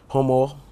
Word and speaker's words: Homowo: Is the name I'm pronouncing correct? HOMOWO. Uh-huh. Yes, it's the word.